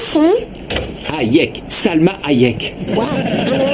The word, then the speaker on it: Hayek: Comment ça se prononce son nom? Hayek.